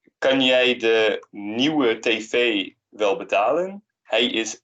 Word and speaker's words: nieuw: The IEU is pronounced nieuw. So kind of the U doesn't really per se make a sound per se.